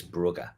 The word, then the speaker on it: Brugge: Yeah, since I'm picking people up on pronunciations, UEFA will tell you it's Brugge.